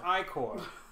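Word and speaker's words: ichor: it with magical Accord that's pronounced iCore - you choose your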